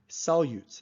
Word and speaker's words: solutes: notice the word solute sounds as if it has a Y in it right before the U solutes that's how we pronounce